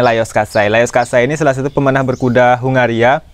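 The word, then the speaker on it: Lajos Kassai: itu teman-teman bisa lihat atas nama layer style atau tulisannya lajos qusaidah beres bacanya layar khaini salah satu pemenang berkuda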